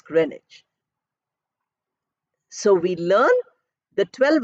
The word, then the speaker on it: Greenwich: we say Greenwich meantime it is written as green witch pronounced as grenage so we learn the